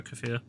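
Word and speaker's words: kefir: Although I think in the UK it's pronounced kayfer or something, but I prefer kafir. I pronounce it kafir because I prefer it that way.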